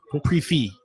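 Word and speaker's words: prix fixe: How do you say it? Prix Fix? Pre-fee.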